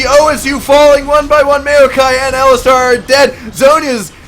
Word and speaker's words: Maokai: Yeah, it's pronounced Maokai. It's Maokai.